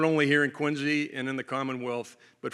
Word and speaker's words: Quincy: to be here in quiny uh that is by the way spelled with a z q i n zy if you're if you're ever asked about that I've only been here